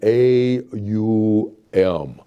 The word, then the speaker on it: Om: I pronounce it as Om. That is the word. The symbol Om is this. The pronunciation Om is A U M. Aum. It is Aum.